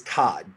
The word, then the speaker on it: Todd: my last name my last name is todd just like the first name todd yeah but it's spelled